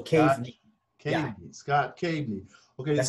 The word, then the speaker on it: Kaveny: Kaveny. So how you pronounce it is you have a cave in front of you. You just crawl on your knees into a small cave. So Kaveny.